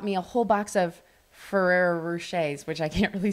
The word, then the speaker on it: Ferrero Rocher: a whole box of Ferrero rochers which I can't really say that name did I say that right Ferraro no we always say it wrong we say like Ferraris but anyway um